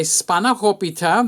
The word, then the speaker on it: spanakopita: This is how I make my spanakopita.